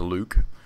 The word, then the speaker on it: Luke: scam behind me but my real name is Luke rhymes with puke and nuke so you can see